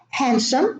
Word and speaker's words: handsome: Handsome, the same thing, and handkerchief, the same thing. So there is no D in Wednesday, in handsome, and in handkerchief.